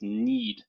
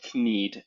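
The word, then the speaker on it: knead: a nice 40 points with need or kned if you want to pronounce it phonetically un phonetically please don't pronounce it un phonetically just Pro phonetically just pronounce it the way it's pronounced need like to need bread leaving Chi um it's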